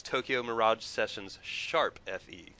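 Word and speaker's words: Tokyo Mirage Sessions ♯FE: about for future reference the appropriate pronunciation is Tokyo Mirage sessions sharp Fe okay my precious pronunciation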